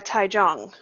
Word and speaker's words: Taichung: Yeah, it's actually Taichung, Taiwan. Taichung. Oh, So okay. I pronounced that those wrong. Chinese names get you. Yeah, the CH, I always forget that's pronounced like that in Chinese characters.